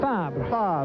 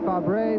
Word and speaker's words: Fabre: AGS, driven by Pascal Fabre. I was waiting for your French pronunciation there. I would say Fabre, but Fabre is the French way to pronounce it correctly.